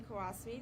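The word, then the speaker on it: Qawasmi: student who was arrested my name is kasasi that is spelled s r n q a w SMI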